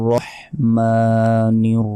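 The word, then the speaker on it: الرحيم: রহমানির রাহিম রহিম গলার ভেতর থেকে ছোট হা কিন্তু এখানে নাই এখানে আছে বড় হা তাই গলার ভেতর থেকে উচ্চারণ করতে হবে রহিম আল্লাহ রাহিম অর্থাৎ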